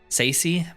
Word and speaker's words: Tsaesci: Tsaesci, the T is silent, is what they said.